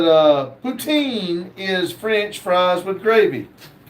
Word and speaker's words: poutine: Uh, James said, "Uh, poutine is French fries with gravy." See, now see, she puts it where I know how to say it. Poutine. Poutine.